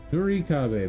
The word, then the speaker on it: Nurikabe: Nurikabe, that's how you say it.